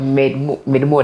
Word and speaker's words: MedMoo: means we made more it's made more it's like people saying Kampala yeah in the north Kampala yeah okay made more that's that's like the lower pronunciation of it okay yeah what does